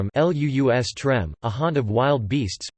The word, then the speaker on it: lustrum: be confused with the identically spelled, but differently pronounced, lustrum ( LUUS-trəm), a haunt of wild beasts, plural lustra ( LUUS-trah), a den of vice.